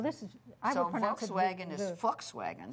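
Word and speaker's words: Volkswagen: This past week, the V is an F. The sound in most of the V words in German are pronounced with an F. Yeah. Well, this is I wagon is folkswagen. Forkswagen.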